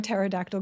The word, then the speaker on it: pterodactyl: Why can't you hear a pterodactyl go potty? Because the P is silent.